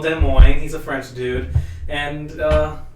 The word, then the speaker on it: Des Moines: So, Des Moines. we're in Des history Moines. class, and so some guy called Des Moines, he's a French dude, and for some reason